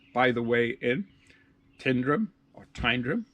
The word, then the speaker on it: Tyndrum: It's by the way in Tyndrum or Tyndrum. It's spelled T-Y, but I think they say T-I, Tyndrum, on the West Island Way.